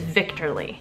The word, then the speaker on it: Wichterle: They don't pronounce W's, so I'm thinking it's Victorly.